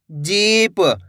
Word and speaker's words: जीप: जा में बड़ी की मात्रा है जी प, तो मिलके बन जाएगा जीप। कैसे पढ़ेंगे? जीप। दोस्तों बड़ी की मात्रा को खींच के पढ़ा जाता है, ऐसे नहीं पढ़ना आपको जीप।